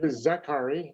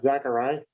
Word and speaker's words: Zaccari: Name is Steve Zaccari, not Zaccari.